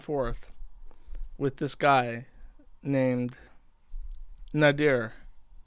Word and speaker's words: Nader: So Chantal has had a back and forth with this guy named Nader. N-A-D-E-R, Nader. Actually, it's literally pronounced like Nader.